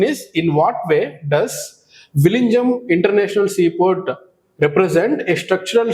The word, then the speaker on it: Vizhinjam: Now the point here is we need to focus on this Vizhinjam International Seaport. Actually, see, the actual pronunciation of ZH in this particular word will be like La. You should pronounce ZH as La.